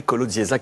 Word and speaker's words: Kolodziejczak: notre grand témoin ce soir le nissois Timothé colodzac qui est avec nous Timothé comment allez-vous très